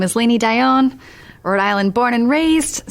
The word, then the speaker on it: Lainey Dionne: the final time tonight we say hello to laini daion good evening how are you still good awesome